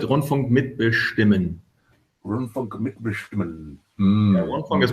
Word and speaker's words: Rundfunk mitbestimmen: You pronounce it Rundfunk mitbestimmen.